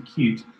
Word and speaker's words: Qt: can partially recommend it qt which some people insist on pronouncing cute is absolutely lovely for